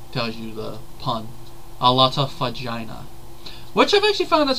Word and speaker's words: Fagina: Alata Fagina. Which I've actually found out something interesting, that if you actually were to go by Italian pronunciations, her last name would be pronounced Fagina.